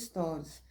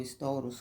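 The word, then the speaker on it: estores: Mas tem que ficar tudo fechado, inclusive os stories. Stories ou storos, como se fala aqui em Portugal, que é uma espécie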